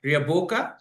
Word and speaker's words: Riaboka: I hope I'm pronouncing that right. Riaboka? Correct.